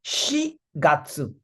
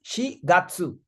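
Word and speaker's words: 四月: And April, it's an exception. It is she gatsu. Its reading is she. Instead of yon, it is she gatsu.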